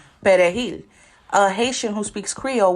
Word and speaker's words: perejil: Now, a Dominican who speaks Spanish pronounces perejil. A Haitian who speaks Creole will pronounce it pelejil. So the only difference is an R and an L.